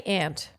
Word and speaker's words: aunt: she's a star yeah so I say Aunt I think ant is an incorrect pronunciation no matter what place you live but I used to